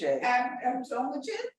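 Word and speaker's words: Abdülmecid: Abdul-Majid? How do you say it? Abdul-Majid. Abdul-Majid.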